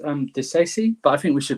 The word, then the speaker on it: Disasi: So I think it's pronounced Disasi, but I think we should call him Axel.